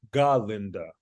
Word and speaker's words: Galinda: her name bougie as Galinda. Oh, Galinda. You have to emphasize the ga. You have to emphasize the ga. And of course, everyone at the school, when they see Galinda, they want to be